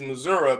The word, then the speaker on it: Missouri: a country boy, and the proper way to say it is Missouri because it is a Gadite name.